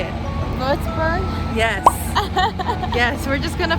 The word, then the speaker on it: Würzburg: Würzburg.